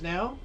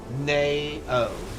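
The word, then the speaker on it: Nao: Oh, it's pronounced now. Oh, N-A-O, now.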